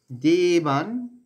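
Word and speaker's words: দেবান্: করলাম প্রথমে দেখব দেবান দেবান একসাথে রয়েছে দেবান দেবান ন টা কিন্তু অর্ধেক হলন্ত মানে হসন চিহ্ন দেওয়া আছে যে অক্ষর গুলোর নিচে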